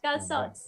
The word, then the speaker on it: calçots: How do you pronounce it? Calçots? Calzots.